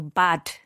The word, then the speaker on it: Bad: It's a soft D, but the Germans often pronounce it with a harder D than it's written. So Bad.